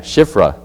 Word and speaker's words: Shiphrah: Hebrew midwives, of whom the name of the one was Shiphrah. Wait, that's not how you say it. Yeah, it is. Right? Yeah, Shiphrah.